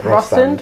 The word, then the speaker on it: Rostand: Is that how you say it? R-O and then stand? Yeah. Yeah, Rostand.